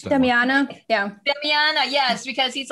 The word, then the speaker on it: Damiana: I don't know how to pronounce that. Damiana.